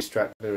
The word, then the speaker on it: Stratner: Barbie Stratner is happy that I pronounced her name correctly. Ooh, awesome. But it's William Shatner is how I know how to say that.